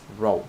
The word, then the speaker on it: rho: Pay attention that it is not p, right? It is a Greek letter. You pronounce it as rho simply.